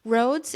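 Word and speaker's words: Rhodes: So Roads is it's well, it's spelled like Rhode Island. R H O D E S if you're looking for it in the freezer section of your grocery store.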